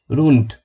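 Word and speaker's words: rund: রুন্ড জার্মানরা ডেটাকে টে এবং ডে দুইটার মাঝামাঝি একটা উচ্চারণ করে রুন্ড, যার অর্থ গোলাকার বা প্রায়।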